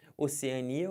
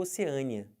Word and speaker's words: Oceania: do continente o continente pode ser Oceania ou Oceania mais comum eu vi isso aqui tá eu sempre coloquei na primeira fileira O que é mais comum e essa aqui na segunda a pronúncia mais estranha embora ambas estejam corretas tá bom soro e